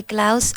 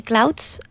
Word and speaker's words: clouds: and a negative they Klaus ant over the city good pronounce the D in clouds the clouds aren't over the city